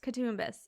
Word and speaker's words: Coutsoumbos: last name how do you say it katus katbus oh it's actually easier than I thought okay like looking at it I was like oh my God I'm gonna butcher this katbus okay so Amanda is here today to talk